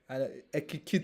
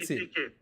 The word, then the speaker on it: Ekitike: Because Ekikite. Ekitike. Sorry. Ekitike. Ekitike. Oh, So it's Ekitike. Ekiti, and then you add K.